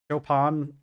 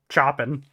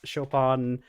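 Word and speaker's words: Chopin: listening to chopan um chopan I I know it's not pronounced choen but um I was listening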